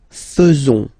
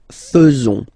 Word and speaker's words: faisons: So it's quite strange because French people tend to pronounce faisons. Okay? So like here, this AE is not pronounced like normally we should pronounce it like E, but then like okay? Nous faisons.